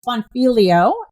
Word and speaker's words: Bonfiglio: Her name is Patrice Bonfilio and I think I got that last name right since the G is silent.